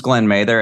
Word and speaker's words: Glen Mather: what do you do well my name is Glenn Mather as you said and you actually pronounced it right thanks Neil and the uh